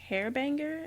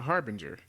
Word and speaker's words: Harbinger: The Monitor used Hairbanger. Is that how you pronounce her name? No, a Harbinger.